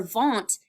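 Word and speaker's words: Wundt: all right and so the w sounds like a v um in the way that you pronounce it so won't now the way that I remember vaunt is that I think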